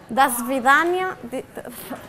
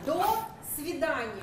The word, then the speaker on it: До свидания: Doncs a veure com es, bueno, com es pronuncia, ja ho tenen aquí, no? Digue-ho ràpid, Svetlana. Desvidània... Do svidania.